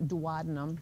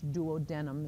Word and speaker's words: duodenum: It's not duodenum. People like to say that, but it's duodenum is the correct pronunciation.